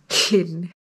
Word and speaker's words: Llyn: That's what the Airbnb host David told us to pronounce it. It's Llyn.